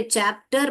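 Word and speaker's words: chapter: word आप पढ़ पाओगे च यहां पे चैप्टर बोलते हैं हम कैप्टर और शेप्टर नहीं बोलते हम तो च ये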